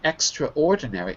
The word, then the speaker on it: extraordinary: It's not written extraordinary. It's straw. Yeah. Extraordinary. Extraordinary. Yeah. Extraordinary. You're adding an extraordinary. You're adding You're adding an extra syllable.